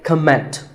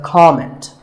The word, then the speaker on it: comment: I have heard many speakers say comment. Now, whether you use this word as a noun or as a verb, the first syllable is always com. So it's never a comment, it's a comment.